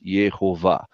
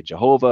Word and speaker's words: Yehovah: very powerful evidence that the name is yehovah now again if you want to say Lord if you want to say Jehovah if you want to say yahwa I mean all right that's fine you know we're not going to get like you know into the name police and say you got to say it the right way but if you're at